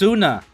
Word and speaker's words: Sunna: It's pronounced Sunna.